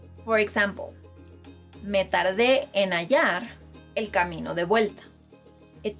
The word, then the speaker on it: hallar: Another verb is, if you're either thinking or you've been pronouncing this verb as jalar, that's wrong because the H is silent in Spanish, and if you pronounce it in this word, you'll be changing the meaning entirely.